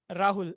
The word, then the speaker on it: Rahul: pronunciation of my name my name is Rahul and it's not Rahul people usually say it all all the time so it starts with